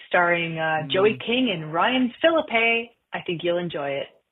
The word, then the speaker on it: Phillippe: where they were like here's how you say her name. Phillippe. It's Phillippe. I don't know if it's the E. I've been saying A like April. Oh no no it's Phillippe.